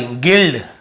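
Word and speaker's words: guild: जी आई एल डी यहां पे गाइड sorry गिल्ड गिल्ड लिखा हुआ है।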